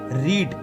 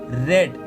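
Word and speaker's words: read: पढ़ना, इसकी वर्ब की फर्स्ट फॉर्म होती है रीड और इसकी सेकंड फॉर्म होती है रेड। स्पेलिंग सेम है लेकिन आपको प्रोनाउंसिएशन अलग करना है, रेड।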